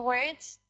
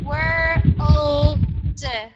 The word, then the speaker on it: world: world world word okay so it sounds like word then word word word word word you're forgetting about the L okay so world world world again world world world